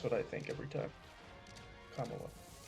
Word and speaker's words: Kamala: In a just world, Joe Biden would be in a nursing home and Kamala Harris would be on OnlyFans.